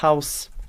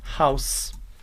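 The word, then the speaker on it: Haus: primeiro é a palavra house house e House em casa note aqui no alemão diferente do português o h ele não é mudo ele realmente vai ter noção bem forte House novamente House House casa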